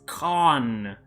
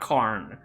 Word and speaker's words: Khan: It's Khan, not Karne.